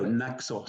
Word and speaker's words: Naxos: And Naxos, forgive me if I'm getting the publisher's name wrong. Naxos. No, Naxos.